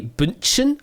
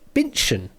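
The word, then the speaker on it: Bündchen: at the pronunciation because it would normally be bunchen i think if you pronounce it german but uh if you're going the brazilian pronunciation way it's binchan giselle bitchin or giselle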